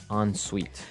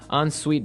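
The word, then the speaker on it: en suite: hyphen s UI T so even though it's e n we pronounce it like an o n yep on Suite so an onite bathroom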